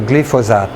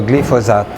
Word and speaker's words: glyphosate: Et l'ingrédient actif de l'herbicide Roundup, ça s'appelle le glyphosate. C'est pas compliqué, c'est 3 syllabes, le glyphosate.